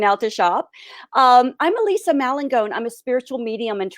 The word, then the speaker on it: Malangone: So I'd like to introduce Elise Mangione. Did I say that right? It's Malangone, but it's Mal- totally okay.